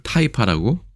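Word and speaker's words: 氹仔: 그래서 이거는 특별히 연습할 필요는 없지 않을까 싶습니다만 재밌게도 이거를 타이파라고 읽습니다.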